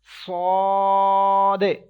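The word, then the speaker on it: ص: We will have to stretch equal to 3 seconds. We have to make echo end of this letter, as well as we will have to read with thicker voice. Sod. Okay, we will pronounce it sod.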